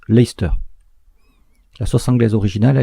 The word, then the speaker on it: Leicester: Ceux qui s'intéressent au football ou au rugby connaissent cette particularité de la langue anglaise, avec par exemple l'équipe de Leicester qui se prononce Leicester.